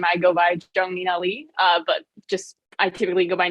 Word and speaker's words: Zheng Ninali: Her name's, also known as Zheng Ninali. As I'm gonna did I pronounce it right?